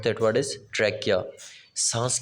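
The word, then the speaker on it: trachea: ट्रैकिया, you'll have to pronounce that word is ट्रैकिया, सांस की नाली को बोलते हैं।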